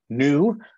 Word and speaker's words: nu: called new is because it sounds like new especially from an american so the so the